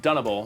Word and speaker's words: Dunable: Is it Dunable? Dunnable. Dunnable, okay.